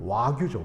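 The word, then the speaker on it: 和牛: 익숙한 말은 바로 뭐냐면 와규죠. 와규. 우리나라 소를 뭐라 그러죠? 이제 한우라 그러죠. 그래서 일본 애들은 자기네 나라 소를 일우라 그러는 게 아니라 화우라 그럽니다. 화우. 그래서 이거를 일본식으로 발음하면 그게 와규인 겁니다.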